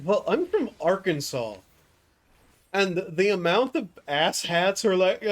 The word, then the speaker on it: Arkansas: Arkansas very specifically being a French mispronunciation of, I think, a tribe name. And the reason it's pronounced Arkansas is the same reason that the one mountain range is the Ouachita.